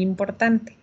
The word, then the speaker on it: importante: Fíjense que el decir las letras de al final o no es muy, muy, muy importante. Aquí decimos importante. Eso significa que es femenino. Si fuera masculino, llegaríamos hasta la N.